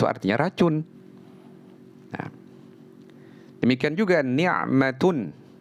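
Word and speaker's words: نعمة: Nah, demikian juga ni'matun. Ni'matun pakai ain, itu artinya kenikmatan. Tapi kalau diganti ainnya menjadi qaf, niqmatun, jadi bencana.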